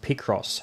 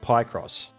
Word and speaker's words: Picross: out to me that it's pronounced picross not py cross not that it would